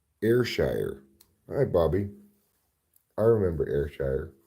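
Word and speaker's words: Ayrshire: hi Bobby I remember airshire it's the place that's not pronounced IR Shire Oregon take the Sixpoint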